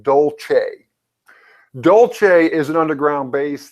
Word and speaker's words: Dulce: people want to Google d-u-l-c-e Now that spells Dulce but it actually pronounced Dolce Dolce is an underground